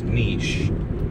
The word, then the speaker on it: niche: And of course, the real pronunciation of niche is niche, but for rhyming purposes, or should I say niche and grow rich?